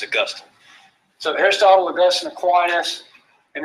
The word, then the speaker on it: Augustine: So don't say, what's the city in Florida? It's named after him, right? But it's not how you say it, right? It's Augustine.